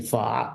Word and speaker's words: pho: pho is actually fa.